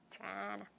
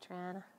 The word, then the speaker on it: Toronto: Toronto. You got to say it that way too. That's how the locals say it, Toronto.